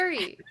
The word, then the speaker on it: Yuri: Yuri. Sure. Hello. Hi, that's me. My name is Yuri. That is Y-U-R-I, pronounced she, they.